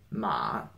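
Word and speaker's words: 马: about this component that by itself it's pronounced MA okay this is actually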